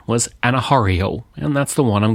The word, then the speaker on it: Anna Mae Aquash: I looked at how to pronounce Anna Mae Aquash's name and found various sources that differed, but the most common pronunciation was Anna Mae Aquash, and that's the one I'm going to use through this episode.